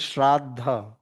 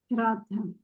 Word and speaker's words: श्रद्धा: It is not Shraddha, it is Shraddha. Shraddha.